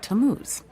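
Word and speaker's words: Tammuz: where do I find him his name is tamuz to what t a m m u z it's pronounced tamuz maybe if you show him your evidence he'll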